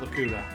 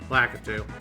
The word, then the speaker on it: Lakitu: That's right, we're finally getting our revenge on that Lakuta. Lakitu.